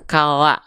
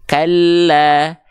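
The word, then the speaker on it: كَلَّا: Oke teman-teman sekalian, jadi dibacanya bukan kala nggak, tapi kalla.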